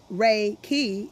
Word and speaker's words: Reiki: and read chapter one Reiki defined Reiki pronounced Ray key is a Japanese technique